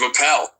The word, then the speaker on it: Appel: I did intend with the ish ending to give a little nod to the ish movement started by Steve Appel, which rhymes with Steve Carell, and both funny intellectual